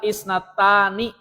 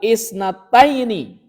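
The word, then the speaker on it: اثنتين: Roaituhu qobla isnattani salah harusnya roaituhu qobla isnataini isnataini wa isruna sanatan.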